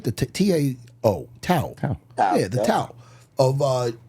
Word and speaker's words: Tao: The T-A-O.